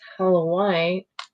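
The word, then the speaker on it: Howlite: Halo white. Don't think I've ever heard that particular word. Well, they keep telling me it's hollow white. Spell it. H O W.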